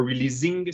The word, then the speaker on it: releasing: Le S se prononce S et pas Z. Or releasing, c'est releasing.